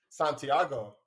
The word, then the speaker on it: Santiago: with creatives today I have here Santiago yes is that how you pronounce it okay because you're from your family